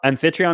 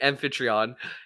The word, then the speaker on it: Amphitryon: Transformer I'm G toon amphitryon is how I would say it or aiton amphitryon yeah exactly amphitryon uh he was away so uh Zeus disguised himself as her husband amphitryon and got up in